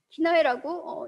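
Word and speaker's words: 畿内: 근데 그거를 일본에서는 경기라고 쓰지 않고 한자로 기내라고 쓰고 기나이라고 읽는다라는 거죠.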